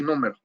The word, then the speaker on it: número: Yo tengo entonces este data frame, nombre y número. Ojo, número tiene, esta palabra tiene acento en la U.